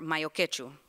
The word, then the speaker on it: mayo ketchup: Sorullitos are only complete when paired with the simplest of condiments, mayo ketchup, or mayo quechu, as it's commonly pronounced.